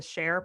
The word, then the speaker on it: Shair: There's one called the Share Podcast, which stands for oh boy.